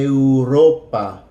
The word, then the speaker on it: Europa: is oh oh oh remember E is always going to sound like a and you is always going to sound like oh you you Europe in English and Europa Europa Europa here are some more